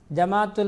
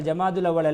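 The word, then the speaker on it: جمادى: ஜுமாதா அதாவது ஜுமாதல் ஆகிரா ஜமாத்துல் ஊலா ஜமாத்துல் அவ்வல் என்று சொல்வார்கள் ஜமாத்துல் அவ்வல் அல்ல ஜுமாதா அல் ஊலா ஜுமாதா அஸ்ஸானியா அல்லது ஜுமாதா அலாஹிரா இதான் அதனுடைய பெயர் ஜுமாதா என்று உச்சரிக்க வேண்டும் ஷாபானுக்கும் ஜுமால் ஆகிராவுக்கும் இடையிலே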